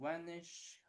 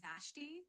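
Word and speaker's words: Vashti: I don't know how to pronounce her name. Wanish Harrison. Did I pronounce correct? Yeah, you're pretty much the bottom with that pronunciation. It's pronounced as Vanessa Harrison. So got it right. Vanessa. No, it's not Vanessa. is a we a s h t i ah I see what you mean now with that spelling it's probably pronounced something like vashi so you'd say vashy harrison where harrison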